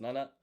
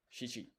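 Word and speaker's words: 七: The first is nana and the second is shichi.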